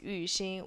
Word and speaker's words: Yu Xin: My actual name is pronounced as Yu Xin with the tones, which is not an easy thing to do for a lot of people.